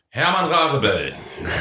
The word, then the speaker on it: Herman Rarebell: Herman Rarebell. Yeah. From Hanover. That's how I pronounce it too.